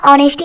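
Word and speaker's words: honesty: इसी प्रकार से हमारा ऑनेस्टी हो गया, ऑनरेबल हो गया, होटल हो गया, इसके आगे भी हम लोग आर्टिकल एन का प्रयोग करते हैं क्योंकि इसमें भी हमारा एच साइलेंट होता है।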